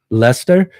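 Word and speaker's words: Leicester: sorry I can't pronounce is it like liester leester leester okay so it's even if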